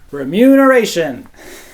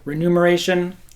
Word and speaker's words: remuneration: to get back for what for your labor remuneration speaking of remuneration this is a word I